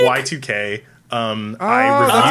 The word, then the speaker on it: YIIK: Yeah, so it's called Yeek? Y2K. I reviewed that's how you it.